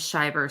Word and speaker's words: Shiver: my life it will be last name is Shyer spelled like shiver it's like bur you know because